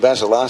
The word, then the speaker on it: Vassilar: One of his relatives tells me it's pronounced differently. Well, I made a point of asking the coach how to pronounce it before the game started, and he told me Cameron Vassilar, so that'll do me.